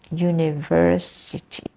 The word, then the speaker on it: university: example yeah university university the stress is in the university the third syllable you University but many